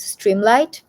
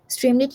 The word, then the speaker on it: Streamlit: My favorite thing is Streamlight. Streamlit I think it's pronounced. Yes, Streamlit.